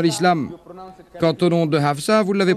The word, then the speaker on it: Hafsa: Quant au nom de Hafsa, vous l'avez prononcé correctement.